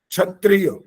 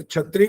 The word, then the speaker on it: क्षत्रिय: और जो क्ष होता है वो भी अधिकांश लोग गलत बोलते हैं, छ की आवाज देते हैं, क्षत्रिय। अरे छत्री कब से हो गया? छ कहां से? छ तो लिखा ही नहीं है, छ कहां है?